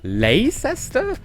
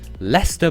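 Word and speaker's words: Leicester: you'd expect but then you get to England and then you have Lester and and um Bicester and toester no leester bister and toaster that's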